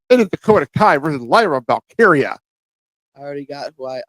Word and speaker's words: Lyra Valkyria: I always said Wywa. It's Lyra Valkyria. I always say Wywa, and no one's corrected me. No, I never said it in front of me, obviously. I've always said Wyra because I couldn't really pronounce the It's L. Lyra. Lyra. Yeah. It's a lion Like bitch.